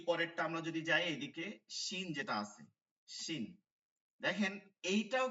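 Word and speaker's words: ش: শিন, শিন, শিন, শিন, শিন।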